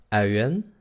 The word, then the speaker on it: uien: El sonido es UI. Se pronuncia OU, OU, OU, OU, OU. Vamos a comenzar por hacer el y después U. Tenemos dos vocales. U, U, OU, OU. Au, au. ¿Ok? Este sonido es el más difícil porque requiere... Son dos sonidos redondeados en realidad.